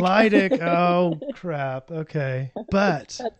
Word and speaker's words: Lydick: It's Lydick. Lydick.